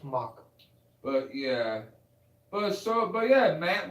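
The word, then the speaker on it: Macek: I thought it was Masick. It's pronounced Mock.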